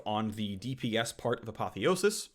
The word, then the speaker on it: Apotheosis: And a bonus AD ratio nerf on the DPS part of Apotheosis. Also, you can pronounce it as Apotheosis if you want. Your choice.